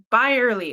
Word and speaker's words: Byerly: That's my always like, how do I say my name? Buy early. Like Like you have to buy it early.